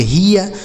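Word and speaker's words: hear: इस इ ए का उच्चारण इ होगा। इ क्यों होगा? क्योंकि यहां आर है। अगर इ और ए के साथ आर होता है तो उस इ ए का उच्चारण इ हो गया। तो इसे पढ़ेंगे हियर।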